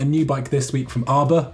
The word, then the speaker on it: Arbr: So we've also seen a new bike this week from Arbr, which I believe is pronounced like Harbour, but in Whitby.